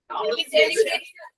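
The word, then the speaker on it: celebration: যদি তুমি নাউন ফর্মটা কি হয় সেলিব্রেট হুম সেলিব্রেশন সেলিব্রেশন হ্যাঁ সেলিব্রেশন ঠিক আছে সেখানে লাস্টে ই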